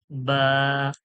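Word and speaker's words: باء: দেখুন জি এটা দেখুন বা বা কার মত দেখতে ঠিক হালকা নৌকার মত বাঁকা রয়েছে বা বা দুটো ঠোঁটের মাঝখান থেকে আওয়াজ দুটো ঠোঁট একসঙ্গে লাগবে লেগে আওয়াজটা বার হয়ে যাবে বা বা নিচে এক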